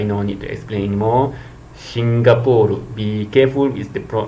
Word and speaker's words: Singapore: Hong Kong I know need to explain anymore singapur be careful with the pro the the pronunciation singapur not Singapore and then uh this is some fictitious uh